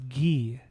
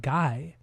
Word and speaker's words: Guy: But his first name is actually pronounced Gee. It's not Guy.